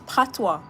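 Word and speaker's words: patois: It's not Partio, it's PWA. It's spelled P A T O I S, but it's PWA. Yeah, we call it PWA.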